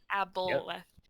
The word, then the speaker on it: Aboleth: Aboleth.